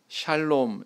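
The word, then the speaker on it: שָׁלוֹם: 단어는 헬라어로 보면 에이레네 이렇게 이야기하고 또 히브리어로는 샬롬 이렇게 발음을 합니다 귀에 익숙하시죠 네 개혁 한글판 성경에서는이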